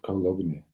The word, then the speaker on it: cologne: You pronounce it cologne or cologne? Cologne. Cologne? Fragrance. Now why is there a G there? My dad always said that cologne rhymes with alone.